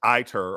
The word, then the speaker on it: ITER: So there's ITER or ETER, depending upon how you pronounce the vowel I.